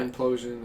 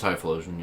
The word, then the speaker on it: Typhlosion: My- Implosion. I don't know how to pronounce it. It's Typhlosion, yeah.